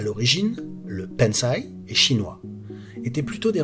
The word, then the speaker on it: bonsaï: Si vous essayez sur Google Traduction en anglais, italien, espagnol, arabe ou n'importe quelle autre langue, vous entendrez toujours la bonne prononciation japonaise bonsaï. Bonsaï.